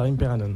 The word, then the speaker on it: Imperanon: que Ch of Botom nozer ou ça se prononce je crois imperanon c'est ça c'est ça imperanon en fait qui est Pact et qu la